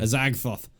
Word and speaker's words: Azagthoth: Azagthoth. Yeah. That's how you actually pronounce it.